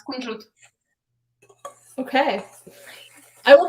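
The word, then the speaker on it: кунжут: This is how you say sesame in Russian. Ooh. How's it pronounced? Is it pronounced the same or? No, it's kunjut.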